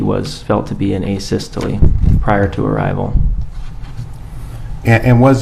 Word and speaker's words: asystole: about and have you explained to the jury a systole i think is called um am i pronouncing that right by the way asystole yeah